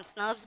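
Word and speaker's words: snRNPs: जब हम प्रोनाउंस करते हैं तब हम स्नब्स बोलते हैं, जब हम लिखते हैं तो हम एसएनआरपीस लिखते हैं.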